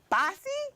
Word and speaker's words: Basi: in studio today is the one and only Bossy? Woo. Am I saying that right? Yes. I am saying it right. Yes, ma'am. It's spelled B-A-S-I.